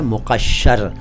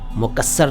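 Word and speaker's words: مقشّر: इसके बाद एक शब्द है मुक़श्शर। मुक़श्शर देखिए, उच्चारण देखिए, अरबी से आया हुआ शब्द है मुक़श्शर, मुकस्सर नहीं, मुक़श्शर नहीं।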